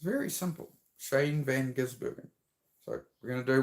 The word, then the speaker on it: Shane Van Gisbergen: Shane Van Gisbergen.